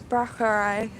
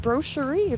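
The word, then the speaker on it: Braucherei: And that's how we get powwow, also known as Brauerei. Proof of me reading a little more than I speak out loud, because I've been pronouncing it brochure for the past like 10 years, because I don't have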